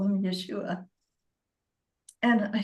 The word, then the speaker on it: Yeshua: and I was speaking to Yeshua and that is how he told me to pronounce his name. So I call him Yeshua and I said I don't understand.